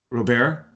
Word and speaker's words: Robert: I have Lewis or Roberts Roberts how would you pronounce that robear robear yeah like almost like Gobert yeah exactly Oh bear